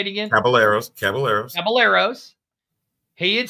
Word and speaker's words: Caballeros: Caballeros.